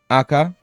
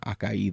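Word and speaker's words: 赤: the other one that that one is just pronounced AKA not Akai there which sometimes I tend to do cuz I I think I learned Akai before just AKA itself um the rest yasumi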